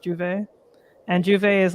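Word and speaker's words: J'ouvert: I want to say it's spelled J comma not comma apostrophe Ouvert, if I'm not mistaken, but it's pronounced Juve.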